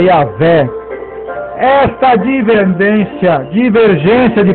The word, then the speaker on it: Javé: rápida ou mais pausada algumas pessoas pronunciam o nome sagrado de Deus como Jeová eu adaptava paraa portuguesa como Jeová no entanto a pronúncia certa é yavé esta divergência divergência de